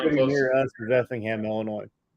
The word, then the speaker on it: Effingham: near us is Effingham, Illinois. Spell it.